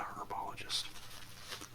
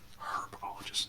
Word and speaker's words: herbologist: which i'm not a herbologist herbologist not herb you pronounce the h the h is not silent and pluto has a